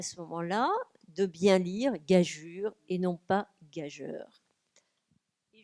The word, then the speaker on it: gageure: Gageure. La gageure. Alors en fait, on a admis deux manières de l'écrire. La manière qui existait, donc EU, et qui se prononce bien gageure et pas gageur, et la manière de